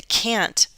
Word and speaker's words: can't: now in the negative the can't is going to have a glottal stop most of the time can't I can't come I can't come it's a cut off sound so I don't hear